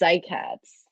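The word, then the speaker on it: cycads: cicadas that's so close you had an extra syllable it's cycats so yes cycad's a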